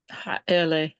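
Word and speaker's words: הָאֵלֶּה: It's ha'ele is Say the word again. These. Say the word again. Ha'ele. Where's the stress? On the second syllable. It's penultimate.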